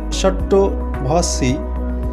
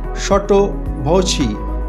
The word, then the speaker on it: sotto voce: উচ্চারণ মনে হতে পারে সট্টো ভসি, কিন্তু সঠিক উচ্চারণ সটো ভচি, CE এর উচ্চারণ চি।